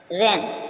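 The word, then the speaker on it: reign: रन रन mean शासन रन क्या हुआ आर ई आई जी एन रन य जी साइलेंट एन से पहले जी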